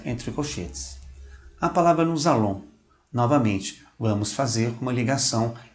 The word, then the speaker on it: nous allons: Observe a nossa pronúncia entre colchetes. A palavra nous allons.